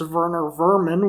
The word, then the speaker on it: Werner Werman: like werner werman who since he's german is actually pronounced werner vermin which is an outstanding